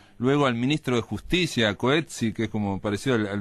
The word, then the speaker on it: Coetzee: Yo entrevisté a este señor, que se llama, se pronuncia Coetzee, es la pronunciación correcta, igual que el premio